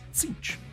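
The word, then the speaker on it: Tzeentch: Sticking in the realm of chaos, the name of the Changer of the Ways presents a perplexing puzzle of pronunciation. It's Tinch, if you're wondering.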